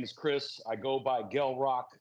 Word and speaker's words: Gel Roc: they don't know me they say Jael Rock and you know but the formal introduction to everybody is g rock with a hard G like graffiti you know what I'm